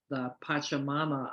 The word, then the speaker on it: Pachamama: the Hunger Project and go work for the Pachamama Alliance, because she realized saving the jungle would prevent hunger.